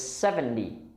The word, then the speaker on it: seventy: part of the word we stress the seven and the second part of the word sounds like d not t so it's seventy very nice and the other word is seven teen we stress on the teen so one is seventy the other is seventeen it is worth reflecting